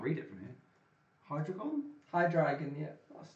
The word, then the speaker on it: Hydreigon: I can't even pronounce that. Can't read it from here. Hydreigon? Hydreigon, yeah.